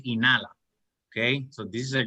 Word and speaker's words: inhala: when you see inhale you won't say inhala you see the age is silence will be inala okay so this is